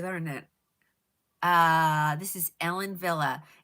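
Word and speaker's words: Wille: Uh this is Ellen Villa. It's spelled W I L L E but it's pronounced Villa.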